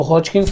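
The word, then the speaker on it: Hodgkin's: अब हॉजकिंस मतलब कि स्पेलिंग उसको HODGKIN है, लेकिन उसको प्रोनाउंस हम कैसे करेंगे, हॉज, जहाँ पे डी हमारा साइलेंट है ना, तो हॉजकिंस लिम्फोमास बोलेंगे या नॉन हॉजकिंस लिम्फोमास बोलेंगे।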